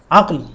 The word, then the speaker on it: عقل: ہم پڑھتے ہیں عقل۔ عقل لفظ غلط ہے، یہاں پر کاف پر زبر نہیں ہے، عقل نہیں ہے، بلکہ یہ کیا ہے؟ عقل، اور اس کا درست تلفظ اور صحیح تلفظ یہی ہے، عقل۔ اس کو عقل نہیں پڑھنا چاہیے۔ اسی طرح سیاح، سیاح،